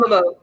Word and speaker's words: Tamamo: if you say the name again i can't pronounce it right it's a top tamamo tam tamamo yeah um technically it's from like um history